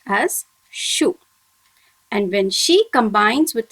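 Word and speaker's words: しゅ: When she combines with a small u, it must be pronounced as shu.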